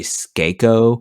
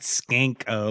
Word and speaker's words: Skako: Skanko. No, it's actually Skako Oh, Minor. Skako, not Skanko, like skank.